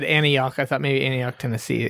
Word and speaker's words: Antioch: And then he went 200 miles away to Antioch, California. Okay, gotcha. It's at least, is that how you pronounce it?